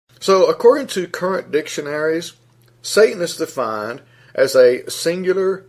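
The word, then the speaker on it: שטן: And it's believed to be pronounced as Satan, S-A-W-T-A-W-N.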